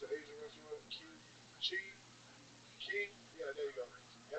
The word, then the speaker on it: Qi: Key.